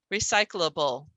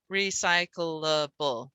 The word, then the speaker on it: recyclable: out this word here everyone says it with three with an extra syllable there for the cl recyclable recyclable right the cl is